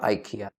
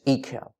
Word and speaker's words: IKEA: missed that point out it's not IKEA IKEA e as in double e e K as in K ay Y as in view as ikaw IKEA so replace the I